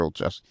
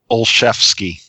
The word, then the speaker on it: Olszewski: Olszewski.